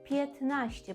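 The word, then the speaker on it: piętnaście: Натомість у вимові ми спрощуємо собі цю збітки, так, звуків, які важко вимовляти. І поляк це природньо скаже 15ще. Петнаще.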